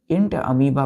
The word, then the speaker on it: Entamoeba: अब यहाँ ध्यान दीजिए, इसको हम कैसे पढ़ेंगे, वो यहाँ साइलेंट हो जाएगा, इंट अमीबा पढ़ेंगे।